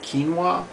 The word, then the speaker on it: quinoa: is it looks like quona but it's actually pronounced quinoa quinoa will provide all those amino acids that